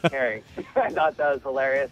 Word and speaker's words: Kering: So it's pronounced Kering.